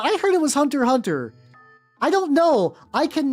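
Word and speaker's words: Hunter × Hunter: For many years I thought you were supposed to pronounce the X in Hunter. Hunter.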